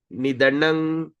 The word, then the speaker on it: nidanam: Okay, here the M we're going to pronounce Nidanang Vibum Samang Charantang Sarvatra Bhutana Yan Mita Kalihi.